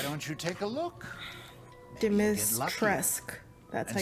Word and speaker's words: Dimitrescu: Dimitrescu.